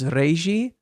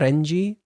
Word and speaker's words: Reiji: Well, that's the so first off, Qatar, his name is Reiji, Reigi. It's not Renji.